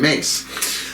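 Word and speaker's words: Myss: levels of power from Caroline mace that's spelled n SS she is a PhD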